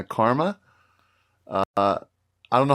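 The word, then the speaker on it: Qarma: In the women's division, you got teams that you'll know like Cube and Karma? Q-A-R-M-A. Yeah, Karma.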